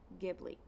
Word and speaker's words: Ghibli: I think Ghibli okay see that's what I was thinking was it was a hard G Ghibli um oh good see